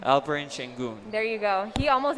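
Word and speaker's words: Alperen Şengün: go ahead and tell the people how you pronounce his name albrin sheng there you go he almost had a double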